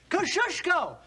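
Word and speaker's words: Kosciuszko: of General Gates chief engineer say it and spell it kushko k o s c i u s z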